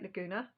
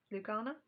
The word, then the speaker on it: Lugana: is a 32 count white Laguna lugana lugana I still say it wrong a Laguna was a A Renault A Renault car still get it wrong anyway that I